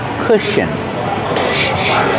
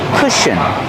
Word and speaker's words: cushion: The first vowel makes a short uh sound like book and look together. C-C cushion. Together. Cush. Cushion. The last syllable is a relaxed C- sound.